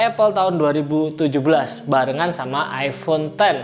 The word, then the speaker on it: iPhone X: tahun 2017 barengan sama iPhone 10 atau kalau banyak orang bilang iPhone X Karena nulisnya gini ya nah jadi setahun lebih